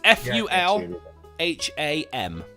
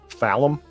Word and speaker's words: Fulham: very small i can't see it it is f-u-l h-a-m phallum f-u-l fulham yeah well done hey not full